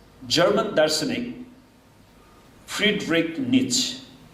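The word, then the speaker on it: Nietzsche: सन् 1882 मा, अहिले 2021 भए, सन् 1882 मा जर्मन दार्शनिक फ्रिडरिक नीच, उसको स्पेलिङ चाहिँ उच्चारण चाहिँ त्यो रहेछ, स्पेलिङ चाहिँ लामो छ त्यो झन्झट।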